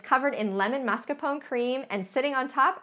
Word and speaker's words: mascarpone: heard of mascarpone cheese I'm kind of saying it right it's really mascarpone if I was Giada De Laurentiis but it's marscapone if you're me but it's basically like